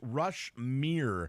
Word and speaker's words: Rushmere: That song is pronounced Rushmere.